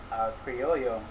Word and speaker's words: Criollo: earlier the cigar name it's actually criollo as the 2 l's and spanish language is generally going to be pronounced with a why so one of the